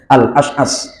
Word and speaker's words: Al-Asy'as: Al-Asy'as itu bacanya al Al-As'as.